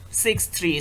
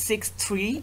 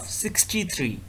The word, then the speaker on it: 63: so this tooth is 6 3 so the maxillary left canine is 6 3 so we have to pronounce 6 3 instead of 63 so 6 3 is the correct pronunciation now the mandibular right